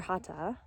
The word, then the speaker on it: Hatha: And just to point out that Hatha, or Hatha in the Sanskrit pronunciation, means oneness and togetherness.